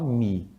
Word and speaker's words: me: o que ó e esse me raramente você escuta alguém falando me a gente fala mi mi mi com i som de i mesmo mas é isso mesmo